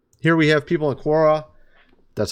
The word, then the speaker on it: Quora: Here we have people in Quora.